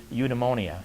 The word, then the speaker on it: eudaimonia: That's the phonetic pronunciation of it would be eudaimonia, E-U-D-E-M-O-N-I-A, I believe it is.